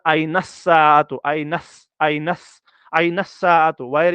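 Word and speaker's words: أين الساعة: से प्रैक्टिस करना है ऐसे कभी मत पढ़ना आइनल साअतु ये गलत है प्रोनाउंसिएशन इसकी गलत ये पढ़ा जाएगा आइनस साअतु आइनस आइनस आइनस साअतु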